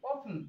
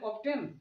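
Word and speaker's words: often: যেমন ও এফ টি এন, অফটেন, অফটেন, এভাবে যেন না হয়ে যায়। এর পূর্বে এই যে টি আছে, এটা হচ্ছে ইংলিশের সাইলেন্ট ওয়ার্ড, অর্থাৎ বাংলায় বলা হচ্ছে অনুচ্চারিত শব্দ, এটাকে উচ্চারণ করা হচ্ছে না, উচ্চারণ করা হয় না।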